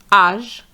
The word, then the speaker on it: âge: And you have to remember that those words are going to be pronounced the French way. âge population capitalisme culture Now let's practice together.